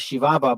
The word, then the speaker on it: Chihuahua: The Spaniards called the land of Ram Uri Chihuahua, pronounced as Shivava by the natives themselves.